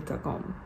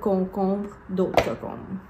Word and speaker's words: concombre: Et vous avez le cocombe.